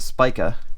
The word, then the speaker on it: Spica: we are um yeah the Spiker that's how you pronounce it I double checked so Spiker 260 from